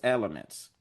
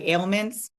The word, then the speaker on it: ailments: Human fat, also prescribed for various elements or You mean like ailments?